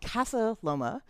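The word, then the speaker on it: Casa Loma: this building is called castala and you have to pronounce it really carefully because it means house on the hill not Castle because you could be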